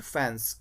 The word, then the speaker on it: faience: तो यहाँ पर फैंस, हम यहाँ पर आई को साइलेंट कर देंगे स्टूडेंट, तब इसको पढ़ेंगे FAIENCE, FAIENCE, फैंस।